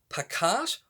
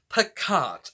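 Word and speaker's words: Pacat: to this video i knew it was either pikach or passat and it is picart so yay i'm finally pronouncing it correctly this book is categorized as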